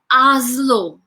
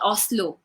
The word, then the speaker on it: Oslo: will never forget oh it's called aslo it's not called oslo see they have said